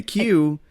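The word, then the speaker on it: queue: a a Q and A Q which sounds like CU E A Q is a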